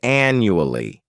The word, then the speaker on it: annually: first adverb is annually this word has four syllables and the stress is on the first syllable a n n u a l l y the second syllable is like you're just saying that letter U and the third syllable has that schah sound n new Al this adverb means that